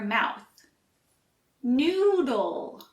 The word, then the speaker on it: noodle: back to back noodle for the L sound you move your tongue to the roof of your mouth noodle this one may require